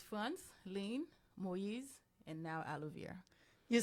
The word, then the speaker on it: Frantzline: and I'm one of them um so it's France lean moiz and now Alo you see guys there's